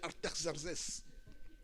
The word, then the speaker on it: Artaxerxès: Il y a un autre roi qui est arrivé là-bas, c'est Yves qui le prononce bien, Artaxerxès.